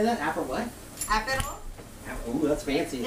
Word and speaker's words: Aperol: Aperol.